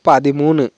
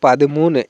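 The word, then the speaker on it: പതിമൂന്ന്: 13কে কিন্তু মালায়ালাম ভাষায় আমরা বলবো পাদিমুনে। 13কে বলবো পাদিমুনে। একইভাবে এখানে নালে আনজি এরকম করে উচ্চারণ করতে হবে।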